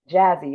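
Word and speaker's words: Jasi: Speaking of filming, can we get into Jazzy? Y'all be wanting to say Josie because it's spelled J A SI.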